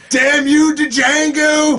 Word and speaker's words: Django: Oh yeah, he's like, damn you to Django! The D is silent.